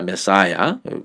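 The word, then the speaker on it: Messiah: 이것도 발음이 영어 발음은 메사야입니다. 메사야.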